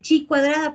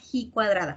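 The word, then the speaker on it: ji cuadrada: cuadrado te acuerdas que dice a veces dice chi cuadrado pero yo les dije se pronuncia he cuadrada ah bueno pues en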